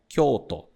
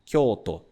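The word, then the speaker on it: 京都: falamos aqui em japonês a pronúncia dela é koto koto tem esse prolongamento no meio também e depois temos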